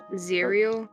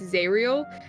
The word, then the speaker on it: Zariel: Zerial? Zariel. Zariel. Or Like, how you... Listen, that's me being dumb and not being able to pronounce words. That's me fucking up his name. It's Zariel. I need to remind myself.